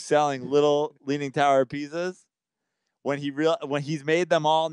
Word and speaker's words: Pisa: Pisa. Really close to pizza. It's close, but it's not. It's with an S, not two Z's.